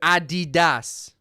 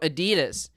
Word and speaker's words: Adidas: Also, by the way, um Adidas. Yeah, it wouldn't be Adidas. It would be Adidas. Adidas because it's named after someone called Adidas. Adult Dler. Adidas. So, Adidas, not Adidas.